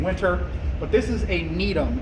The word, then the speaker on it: Gnetum: But this is a Gnetum. It's spelled G-N-E-T-U-M.